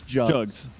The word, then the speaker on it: Jugs: Listen, I thought it was Jugs because that's what the I went to HLTV and confirmed they had the pronunciation guide and it is Jugs.